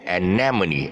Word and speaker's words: anemone: really look at it anemone the stress should be on and now mo anemone and or also is